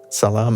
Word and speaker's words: salam: say and to say, is it sal or how do you say it? Salam salamulaykum. It's a little complicated. Sometimes you can just say salam. So that means peace. It's a simpler, shorter version.